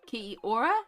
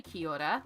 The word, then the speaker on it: kia ora: So ki, like ki, and then ora as in Rita Ora. Ki ora is the easiest way to sort of break it down phonetically.